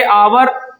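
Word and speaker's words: hour: इसे पढ़ते हैं आ से, आवर पढ़ते हैं, तो पहला अक्षर यहाँ आ आया, उच्चारण आ आया, क्या भर दिया जाएगा, एन भर दिया जाएगा।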